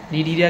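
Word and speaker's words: Cnidaria: नीडरिया कहते हैं इसको। सी साइलेंट होता है इसमें।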